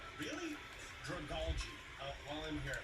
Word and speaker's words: Dragalge: Mega Stone for Clefable, Scrafty, Salamence, Metagross, and Dragalge. I'm going to learn it. You know, I'm looking it up. Okay, on the official Cerebi Say Every Single Pokemon's Name Right, it says Dragalge. Really? Dragalge.